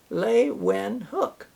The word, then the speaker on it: Leeuwenhoek: And I can pronounce his last name because on the back of the book it says Leeuwenhoek is the way to pronounce it. Anthony van Leeuwenhoek.